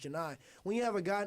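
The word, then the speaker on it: Johni: And when you have a guy like Johnny Broom, like Janai Broom, excuse me, it's spelled like Johnny, but it's pronounced Janai.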